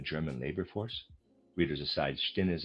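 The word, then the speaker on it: Stinnes: Readers aside, Stinis, I'm pronouncing it that way, is is spelled S T I N E S.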